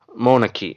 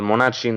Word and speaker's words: monarchy: தென் மோனக்கி, MONACHY, அது மொனாட்சின்னு தான் நம்ம படிச்சிருப்போம், right? We might have pronounced as மொனாட்சி during our school days. Even our school teacher might have pronounced like that, but that is absolutely wrong. அது வந்து மொனக்கி அப்படின்னு தான் சொல்லணும்.